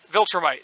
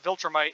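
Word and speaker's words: Viltrumite: who is omniman uh vulture might sorry i mispronounced that i think i mixed that up with uh final space but uh viltramite is the his race and uh he came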